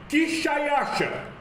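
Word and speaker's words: Xšayāršā: A pronúncia do nome deste rei em sua própria língua seria Quixaiaxa.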